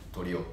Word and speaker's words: toriwo: ますえっとねあのよく言われるのはトリオとって発音がちょっと違うんですねあのコツとしてはあのヒオとかヤオみたいな感じの発音で取りをって呼んでもらえればいいと思いますえギター